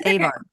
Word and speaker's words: Avard: earlier and I apologize it's avard avard yeah avard I think I put an r in that but up front avard um so that's it